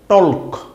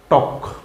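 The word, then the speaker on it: talk: টক। হু। এখানে এল আছে কিন্তু এই এল এর কোন উচ্চারণ হবে না।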